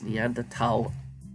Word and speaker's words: Neanderthal: preference a preference and there's no H sound when it's pronounced in French and German it's something I picked